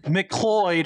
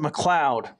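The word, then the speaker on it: McLeod: if NASCAR does nothing mcloyd who pronounce it McLoud I love I love BJ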